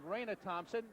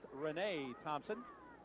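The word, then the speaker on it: Reyna Thompson: I have to apologize we were calling him Raina Thompson it's spelled re y na a it's pronounced Renee Thompson making the tackle short of a first down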